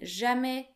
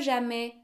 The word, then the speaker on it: jamais: The S in jamais, which we talked about before, is also silent.